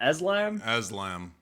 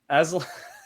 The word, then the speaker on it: Aslan: how the fuck do you pronounce his name? Aslan? Aslam. Aslan.